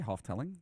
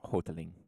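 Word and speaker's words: Houghteling: you pronounce that uh i would say half telling right how's it spelled h-o-u-g-h-t-e-l-i-n-g it's hoteling hotling hotling hi my name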